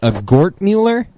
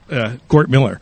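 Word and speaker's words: Gortmiller: Gortmuller? Close. Wait, let me get you on there. Go ahead. Gort Miller. Gort Miller. Right, Miller.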